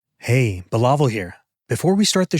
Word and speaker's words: Bilawal: My name is pronounced Bilawal. Absolutely. To help people pronounce your name correctly, you can break it down like this. Billa as in Bill-a and wall as in wall. So it's Bilawal. No, that's wrong.